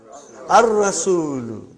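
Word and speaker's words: الرأس: Next one, how will you pronounce? Ar-Ra'su, not al.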